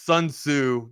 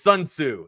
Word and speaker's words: Sun Tzu: It's Sun Tzu, but if I said it like that, it's because I was just rambling off with the time. It's Sun Tzu. Sun Tzu is the author of Art of War.